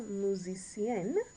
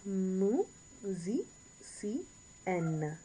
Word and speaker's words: musicienne: And you get that N. Make sure you pronounce when it's E-N-N-E, get that N. Pronunciate that N at the end.